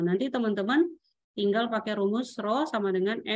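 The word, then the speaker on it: ρ: melayangnya ya Nah ini teman-teman bacanya ro Nah jadi ro = m/pki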